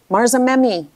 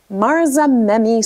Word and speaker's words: Marzamemi: And I'm sorry, I keep trying to pronounce this Marzamemi, not me, Marzamemi, Sicily.